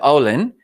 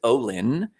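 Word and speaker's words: Ollin: is o-l-l-i-n and it's pronounced with a small accent of owlin like all in or you could actually pronounce it olin it comes from the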